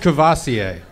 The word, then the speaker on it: Courvoisier: ] so awesome god bless you hey it's pronounced Courvoisier believe I gave you the opportunity of a